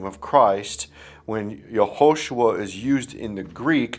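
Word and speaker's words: Yehoshua: Joshua is called Joshua, but in the Hebrew, it's spelled Yahosua. In Joshua 1:1, we see that Joshua the son of Nun is yod vav shiny which is yahosua.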